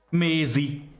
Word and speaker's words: Mézi: Mézi, M-E-Z-I, az ugye az angol Maisie, tehát Maisie névnek a kiejtett változata, mert ugye természetesen Magyarországon